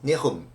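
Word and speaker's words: נחום: Vamos a comenzar definiendo que viene de la palabra que como verbo se pronuncia Naham, como verbo arrepentirse, Naham, y como sustantivo es Nehum.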